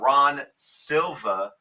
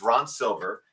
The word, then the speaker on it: Ron Silver: am slightly embarrassed that I was mispronouncing um uh Ron Silva uh it's Ron Silver and I was pronouncing Ron Silva for the longest time so that was my Long Island accent coming into play so that's probably the